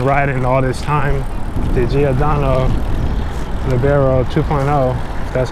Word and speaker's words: Giordano Libero: why I've been riding all this time the giodo leero 2.0 that's how it's pronounced I've been having an amazing time with